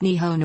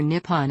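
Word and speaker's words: 日本: The Japanese word for Japan is, which is pronounced Nihon or Nippon and literally means the origin of the sun.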